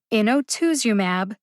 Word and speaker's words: inotuzumab: usp dictionary's pronunciation first in o2sumab ozogamycin is a two-word drug name there are five syllables in inotuzumab and five syllables in